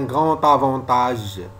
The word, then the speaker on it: grand avantage: Par exemple, un grand avantage. On prononce T et non pas D. un grand avantage D avec A, on prononce ta.